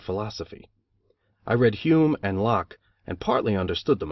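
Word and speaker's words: Locke: I read Hume and lock and partly under Ood them I think though I did not know that Lo is pronounced in only one syllable till many years after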